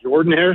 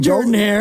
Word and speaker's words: Jordan-Hare: I'm getting on a plane this Friday to fly out to Atlanta to go see Cal play Auburn at Jordan-Hare Stadium this weekend, so I'm pretty excited about it.